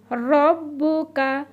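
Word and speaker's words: رَبُّكَ: ওয়ালা সাউফা ইউতিকা রব্বুকা, র, র বাকে গিয়ে ধরবে, রব। আমরা কিন্তু বলেছি রর উচ্চারণটা একটু শক্ত, মানে জিভেটা একটু ঘুরিয়ে হবে।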